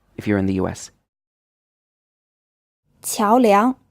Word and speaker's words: 桥梁: 桥梁 This word is pronounced with 2 second tones.